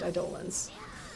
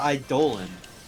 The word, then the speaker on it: Eidolon: Here it's representing Rubrum, which is the kingdom you're from, and Rubrum has the summoned enemies, or the summoned Eidolons.